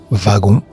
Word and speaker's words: wagon: Le mot wagon s'écrit avec un W et pourtant se prononce V de wagon.